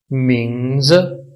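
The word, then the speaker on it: 名字: है इसके ऊपर सेकंड टोन है, और जो लास्ट पे आई है इसके ऊपर फोर्थ टोन है। तो यहां पे पहले वाले को उठाया जाएगा और लास्ट वाले को गिराया जाएगा। यानी कि इसकी प्रोनाउंसिएशन कुछ यूं होगी, मिंग्स मिंग्स मिंग्स।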